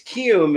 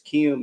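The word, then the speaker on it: Kiwoom: It's Kium is the they don't pronounce the W. The W's there, but it's not pronounced in the team name. But it's Kium is the name of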